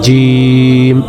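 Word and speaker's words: ج: আবার জিম জিহ্বার মাঝখান থেকে শক্ত করে বলতে হবে জিম।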